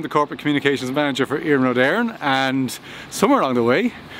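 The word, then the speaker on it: Iarnród Éireann: I'm the Corporate Communications Manager for Iarnród, Éireann.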